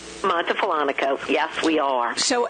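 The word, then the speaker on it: Montefollonico: You're in, tell me if I'm saying it wrong, Montefalonico? Montefalonico, yes, we are.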